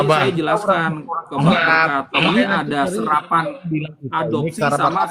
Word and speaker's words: Berkat: Contohnya nama saya Berkat. Di dalam kamus KLBI bahasa Indonesia BERKAT dibacanya Berkat, bukan Borkat.